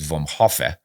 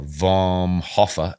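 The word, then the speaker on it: vom Hofe: the second word h-o-f-e i think it's pronounced vom hoffe or vom hoffa in german and super express pretty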